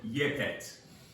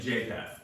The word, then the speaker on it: Japheth: So we have Ham, we have Shem, and Yepet. Ham, Shem, and Japheth is how we oftentimes pronounce that in English.